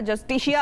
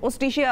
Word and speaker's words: Justitia: जस्टिशिया award है या ओस्टिशिया award है, तो इट इज ओस्टिशिया award basically. J is silent.